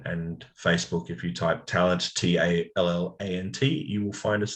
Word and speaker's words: Tallant: i'm not exactly tall it's pronounced talent and spell and in